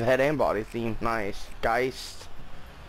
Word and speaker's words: Geist: Geist. I've heard a lot of YouTubers call it Geist. But I believe it's pronounced Geist.